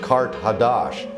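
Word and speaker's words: Qart Hadasht: Carthage, in the ancient language, is pronounced Kart Hadash, and that means new city.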